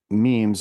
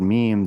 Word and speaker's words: meme: Chosen to chosen to sound similar to gene but the mechanism.